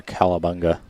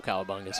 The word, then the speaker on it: cowabunga: i foresee a couple cowabungas here agreed funny enough i've actually been told by people i've been saying it wrong i guess it's cowabunga cow yeah i guess there's a w instead of it now i don't